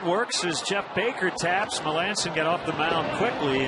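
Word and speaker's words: Melancon: for the Houston Astros it's not a misprint it's Mark malanson that's how you say it sof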